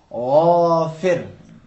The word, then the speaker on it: غافر: غرغرہ اور غرارے کی مثال ہے. کس طرح ادا کریں گے؟ غافر بولیں.